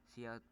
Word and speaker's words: cout: Cout, pronounced as cout, is an object used together with the insertion operator, which is two less than, to output or print text.